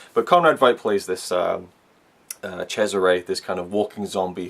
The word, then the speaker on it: Cesare: read the character of Cesare's name on the subtitles, obviously it's a German film, it looks like it's pronounced Caesar or César, but apparently from what the commentary tells me it's Cesare.